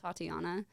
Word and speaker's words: Tatiana: look at that crazy my full name is five syllables too okay tatiana which is the coolest name thank you thank you it rhymes with thought you're the first you're